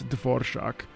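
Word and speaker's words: Dvořák: bastard for mispronouncing it I know how to pronounce dvor shock so it makes me laugh very hard that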